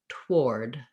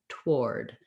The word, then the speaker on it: toward: says it would be to put the w in but to keep the the same pronunciation with the or and that sounds more like toward toward so to build that